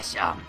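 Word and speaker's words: Seam: Mi nombre es Sham, se pronuncia Sham.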